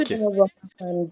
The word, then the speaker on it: Udemeobong Akpan: and the sustainability topics, we are joined by Udemeobong Akpan. I believe I pronounced that right. Did I? You did your best. That was good. My name is Udemeobong Akpan.